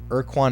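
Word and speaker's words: Ur-Quan: a different title it's called Quan Masters um erquan is spelled like this I don't know if you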